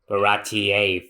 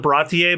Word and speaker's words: Baratie: I've actually heard two different pronunciations. The Funimation calls it Baratier, but for the longest time, I've heard the Barati. So I don't think either one's wrong.